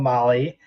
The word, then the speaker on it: Mahle: Well, because earlier today we got an email from Molly, and they are giving away a full Molly Motorsports Power Pack piston kit at the circuit.